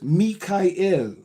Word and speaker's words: Mi'chael: My spiritual name is Mikael. Spelled Michael but pronounced Mika.